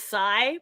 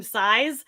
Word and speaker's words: sai: was so mad because the plural of Psy is Psy but she was calling them size and if your weapon